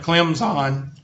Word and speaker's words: Clemson: Math Science 301 at Clemson. Okay, you got to say Clemson. You can't pronounce the P because then you're a dumb racist Southerner.